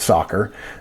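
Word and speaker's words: SOCR: S O C R situation, we call it soccer, even though it's spelled wrong.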